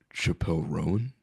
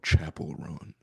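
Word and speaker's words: Chappell Roan: And then you said And then I heard Chappelle ran. Chapel. Oh, Chapel Rowan. Yeah, that's how you say her name.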